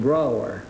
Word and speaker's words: Brougher: Brougher. Brougher, huh? Yes, it rhymes with B-R-O-W-E-R.